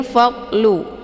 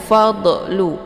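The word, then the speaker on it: فَضْلُ: Kemudian fa'lu di sini ada dhad ya, dhad sukun. Ini cara bacanya dialirkan, tidak boleh dilepas sehingga terbentuk suara yang memantul. Jangan fadlu. Ini kebanyakan orang bacaan dhad ini keliru.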